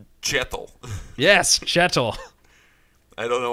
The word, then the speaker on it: Kjetil: Change it to more of a ch sound. Kjetil.